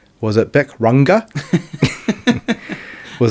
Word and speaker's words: Bic Runga: Was it Bic Runga? Was How it am I supposed to say that? Runga? Bic Runga. Beck Runga. Bic Runga.